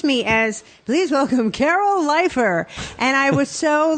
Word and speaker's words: Leifer: mustache it's Carol leafer it's lifer now I changed it yeah maybe I was